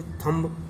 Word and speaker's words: thumb: इसमें भी ऐसे कुछ अक्षर हैं, जैसे और भी बहुत हैं, जैसे थंब, THUMB, थंब, थंब माने अंगूठा, तो इसमें भी बी साइलेंस वर्ड है।